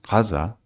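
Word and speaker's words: Gaza: and by the way I pronounce it Kaza because uh that's how you should pronounce it Israeli raids on the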